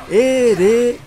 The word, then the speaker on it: Ereshkigal: Não, Ereshkigal. Ou sei lá das contas. É esse seu nome, né? É. Quer dizer, talvez esteja pronunciando incorretamente. Ereshkigal, é isso? É, tava falando errado. É Ereshkigal. É esse o nome.